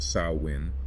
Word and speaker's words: Samhain: Samhain, pronounced Samhain, holds deep spiritual significance as one of the most sacred festivals in the Celtic calendar, symbolizing transition, death, and renewal.